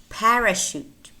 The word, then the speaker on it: parachute: more words that are spelled to eat and pronounce touch so you need to learn them by heart Chicago Chicago Champaign parachute parachute Michigan Michigan brochure brochure chandelier chandelier Chevrolet Chevrolet